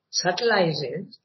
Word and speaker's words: subtilizes: But by these higher elements, he enlarges, subtilizes, or actually you don't pronounce the B, subtilizes and elevates his use of life values.